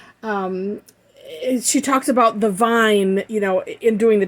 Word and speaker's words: Vigne: came from and so i'm assuming that vine with the silent g is is appropriate because